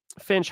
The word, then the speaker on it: Finch: Um, Mike Finch in the clinch. Yes, that does rhyme with my last name.